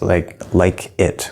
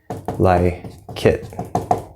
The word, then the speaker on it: like it: If we say like it, we don't say these like it. We don't do that. We say like it. Like it.